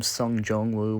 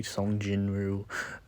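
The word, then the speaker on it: Sung Jinwoo: pronouncing his name wrong, calling him Sun Jong Wu when I really meant to say Sun Jinu.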